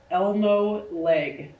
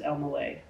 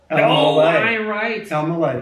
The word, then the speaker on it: Elmaleh: Will hear Elmaleh. Mm-hmm. Oh, man. But it's pronounced Elmaleh. Elmaleh.